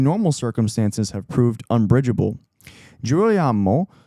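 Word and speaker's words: Girolamo: Jirroyamo, Jirro Yamamo, I think is how you pronounce it, carried himself with all the ostentation of someone only recently vaulted into the first ranks of society.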